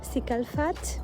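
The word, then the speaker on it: Cicalfate: me like 2 creams, Cicalfat, that's how they say it in French, from Aven, for example.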